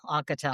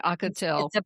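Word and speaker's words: Ocotal: I'll Maybe we'll grab a coffee, and How do you pronounce the name of your town? Ocotol? O C O T A L. Ocotol. Okay. Ocotol.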